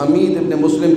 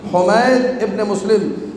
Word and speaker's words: حمید ابن مسلم: اور حمید ابن مسلم، جس کو آپ لوگ حمید ابن مسلم کہتے ہیں، صحیح تلفظ حمید ابن مسلم، یہ دونوں مولا حسین